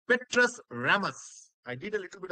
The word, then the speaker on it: Petrus Ramus: Petrus Ramus. The pronunciation is like this, Petrus Ramus, because they use their nose to talk.